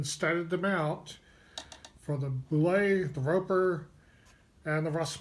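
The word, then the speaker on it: Bulette: Now, the Boule, I always pronounced it Boulette until I heard Tim Chass say it was really pronounced Boule.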